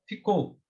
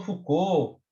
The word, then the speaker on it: Foucault: Foucault. A gente chama Foucault, Foucault. Antigamente eu tinha um professor que falava Foucault, mas o último que eu estudei chamava de Foucault, né?